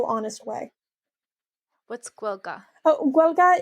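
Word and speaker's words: Gaeilge: way what's guelka oh guelga is i'm slightly mispronouncing it it's the way that my grandmother pronounced it to me when i was a kid it's irish spell g-a-e-l-i-g-e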